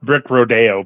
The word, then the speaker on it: Brick Rodeo: It's pronounced Brick Rodeo, by the way. With a little accent.